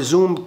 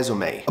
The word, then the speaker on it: resume: a verb، لو تستخدمها كverb اللي هي resume ان انت تستكمل حاجه. ولكن كنون بيقول لك بقى ابعت لي، لو انت عايز اقدم على الشغلانه دي مثلا ابعت لي السي في او الريزومي. resume فالنطق بيتغير الى حد ما السبيلنج شويه. فكverb اسمها resume، كنون اسمها resume.